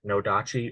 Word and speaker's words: nodachi: also used other weapons such as the very long nodachi or odachi depending on who you ask how it's pronounced which was used primarily